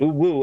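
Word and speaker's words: UwU: And I found out when I found out that no, it's actually oo woo that you're actually supposed to pronounce it oo woo.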